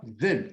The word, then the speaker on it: veulent: Veulent, elles veulent. Você vai pronunciar até aqui. Veulent.